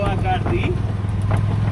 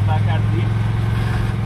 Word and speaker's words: Bacardi: It's the D-I at the end. Exactly. Bacardi. The D-I is the strong.